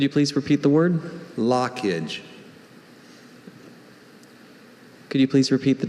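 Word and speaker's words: lochage: Is that because of the LOCH? Exactly that. Lockage. Am I pronouncing this right? We'll tell you if we hear anything wrong. Lockage. L-O-C-K-A-G-E. Lockage. Lockage is L-O-C-H-A-G-E. Congratulations on a great performance, Benjamin. Thank you for the opportunity. And in Greek, that sound is often made by the CH combination.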